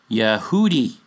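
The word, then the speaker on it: יהודי: you this is pronounced Yehudi, or similar, or in plural, Yehudim. Yeh, not Yah, Yeh.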